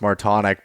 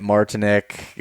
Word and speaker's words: Martonik: it's uh it's funny my last name is pronounced more tonic but yeah i usually get martinique uh just about any